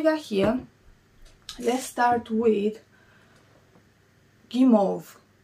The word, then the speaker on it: Guimauve: here let's start with gimov i think it's pronounced game of the pink one i checked with google translate this is how the lady pronounced gimov so i'm going to say the same kimov the pink one this